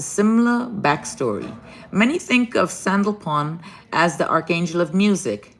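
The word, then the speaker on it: Sandalphon: a n d a sandal Pon sandal Fon maybe that's what it says that's how you say s a n d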